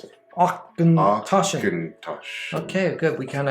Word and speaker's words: Auchentoshan: Oh, look, that's how you pronounce it. Auchentoshan.